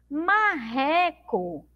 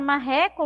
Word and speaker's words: marreco: Mas pronunciamos com som de U. Marreco, Tinha a palavra marreco lá na história?